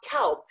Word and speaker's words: Kaup: It's pronounced Kaup, like the animal, cow.